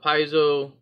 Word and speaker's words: Paizo: But what we're going to do, I'm going to use these Paizo, and now I'm finally saying it right.